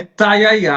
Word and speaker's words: Taiaiá: Olha, é Taiaiá. A gente teve esse debate, eu e a Valentina Moreira, que estávamos cobrindo essa história, sobre como pronunciar, mas pelo que os funcionários disseram, é Taiaiá mesmo, mas é um nome meio complicadinho, né?